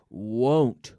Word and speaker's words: won't: good good good pronunciation we have to remember this pronunciation won't won't again there's a very long o sound won't want won't i